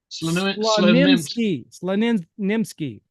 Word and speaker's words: Slonimsky: on unpacking how do you say that again SL nimsky and uh I'm sure he has some amazing